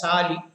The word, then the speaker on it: PSALI: That is called permanent supplementary artificial lighting installation permanent supplementary artificial lighting installation (PSALI) but usually pronounced as PSALI. P is silent.